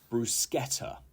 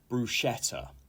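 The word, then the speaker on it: bruschetta: into battle and number nine is brusketa brusketa it is not brushetta okay and this is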